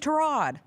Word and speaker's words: Tyrod: Whoever was calling the Jets game kept calling him Tyrod Taylor. I'm like, I thought we went through this. He said his name's Tyrod.